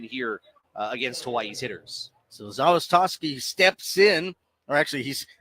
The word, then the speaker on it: Zawistoski: As the Swords will go to the bullpen and bring in a left-hander, Max Zawistoski. Zawistoski. Zawistoski. Just learned that just now. It wasn't on our pronunciation.